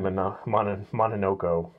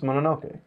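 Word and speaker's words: Mononoke: I can't make you I can't let you say it wrong you said monoko princess monoke m o n m o n o k e monoke monoke monoke I was trying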